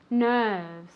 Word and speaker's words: nerves: is very good nerves nerves one more time very good nerves with that v sound nerves let's see if